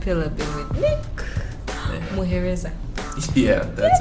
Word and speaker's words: Muhereza: Muhereza. Yeah, that's how it's pronounced.